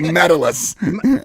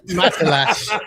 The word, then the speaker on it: Matalas: How you said the He was like Metalus. Matalas.